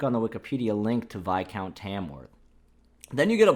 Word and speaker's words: viscount: british admiral washington shirley vi count tamworth which i initially pronounced viscount which apparently is vi count my friend corrected me